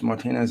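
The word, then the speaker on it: Martínez: It is Um, Martinez, though, isn't yes, Martinez is the correct pronunciation. Like Martinez.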